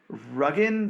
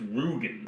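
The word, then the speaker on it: Rügen: Sorry, in Ruggen, Germany. Bob, how am I supposed to pronounce Ruggen? I think it's Rugen. Okay, that sounds more German than Ruggen.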